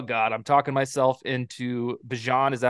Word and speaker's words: Bijan: You said, oh, God, I'm talking myself into Bijan. Is that how you say it? Bijan? Bijan.